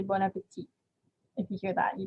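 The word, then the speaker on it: bon appétit: before they eat and when you pronounce it you don't say that last t at the end you just say bon appetit if you hear that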